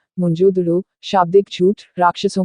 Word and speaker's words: मोहनजोदड़ो: इनमें से 2 शहर बहुत महत्वपूर्ण हैं, पंजाब का हड़प्पा और सिंध का मोहनजोदड़ो। मूल उच्चारण मुंजोदड़ो, शाब्दिक झूठ, राक्षसों का टीला।